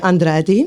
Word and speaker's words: Andrade: It's Andrade. Yes, I can't roll my tongue like that.